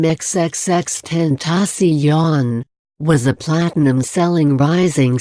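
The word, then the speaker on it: XXXTentacion: who sported dreadlocks and facial tattoos and who pronounced his name xxx10 tasi yon was a platinum selling rising star who tackled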